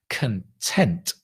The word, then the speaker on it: content: is to be content don't confuse that with content content is the stuff the thing right content stress on the second content is to be happy or happy the adjective I'm